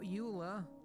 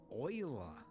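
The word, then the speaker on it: Euler: Uh we need to add shift a utilities rotation rotate, not uler, oiler. Yes, I know they went with the weird pronunciation.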